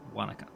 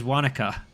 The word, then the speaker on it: Wanaka: Christchurch, sounds 225, safely on the ground at Wanaka.